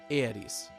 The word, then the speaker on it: Aeris: In Japanese, Aeris' name is written Earisu, or Earisu. See that character there? That's the Su kana. And when you pronounce this character in Japanese, there's a tendency to drop the U sound at the end, in this case giving Aeris.